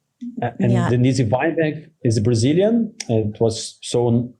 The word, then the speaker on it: Denise Weinberg: Denise Weinberg is Brazilian.